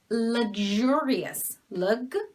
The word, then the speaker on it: luxurious: to learn okay so this is luxurious so this is uh this is a luxurious luxurious okay so it's not lag cherry and then we have